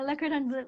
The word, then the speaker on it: Le Cordon Bleu: pronounce that? Yeah, yeah. Le In the Cordon Bleu. Philippines. Yeah, Le Cordon Bleu.